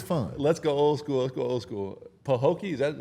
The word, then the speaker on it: Pahokee: Pahokee, is that how I pronounce it? Pahokee? Yeah. Pahokee, Florida. Yep. Man, before we got on here, Say it again, killer. Pahokee.